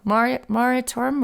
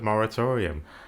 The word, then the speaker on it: moratorium: on that because i i always pronounce that wrong maritorium or iraq jeremiah i think it's just moratorium moratorium but we were